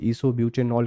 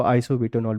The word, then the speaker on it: isobutanol: है उसी तरीके से ईसोब्यूटेनॉल के साथ काम करेगा। आप इसको आइसोब्यूटेनॉल भी कह सकते हैं, प्रोनाउंसिएशन को लेकर परेशान मत होइएगा, ठीक है।